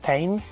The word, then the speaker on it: Tein: quite sure it's pronounced Tein. Well, that's how I heard Japanese people to pronounce it.